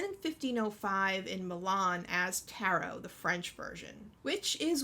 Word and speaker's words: tarot: don't pronounce it as tarret and for all of you who do use that pronunciation sorry you're wrong it's taro it's french it's a french word in english we don't pronounce the t sorry cards have been